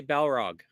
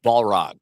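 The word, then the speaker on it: Balrog: that bullog okay bullog I think is it pronouncing it right I say bog chat so far chat's winning chat which is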